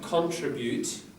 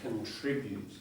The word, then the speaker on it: contribute: So not contribute. I think some British might say that but here it's me contribute.